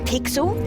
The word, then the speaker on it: Pixel: I'm Pixel. It's easy to remember because it rhymes with pickle.